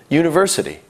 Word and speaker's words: university: University starts with a U, a vowel. However, it sounds like it starts with a Y, Y, university.